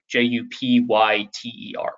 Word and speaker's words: Jupyter: called a Jupyter notebook, J-U-P-Y-T-E-R is how it's spelled, but Jupyter notebook.